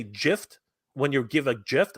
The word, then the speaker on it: GIF: the file format uh GIF right it's spelled GIF how do you pronounce it but did you know that the actual creator of the format says it's supposed to be pronounced Jif yeah but you have